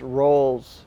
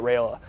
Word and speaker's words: Raiola: Shedeur mispronounced Roll's name. He said like Roll, not Rayola.